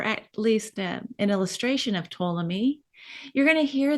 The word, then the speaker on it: Ptolemy: least an illustration of Ptolemy you're going to hear this name Ptolemy with a silent p um because he was